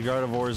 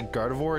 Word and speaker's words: Gardevoir: And Spy Mouse, I'm sorry to tell you the Gardevoirs are not here, and that's also not how you spell Gardevoir.